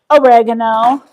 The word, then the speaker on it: oregano: And I'm going to put a little bit of oregano in there, or as the Americans say, oregano.